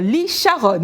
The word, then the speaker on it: Lee Charon: Bonjour Lee Sharon, hein, j'ai bien prononcé ça?